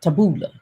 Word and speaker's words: Taboola: it it was it's called tab tab chabola taboola taboo it sounds like something i would say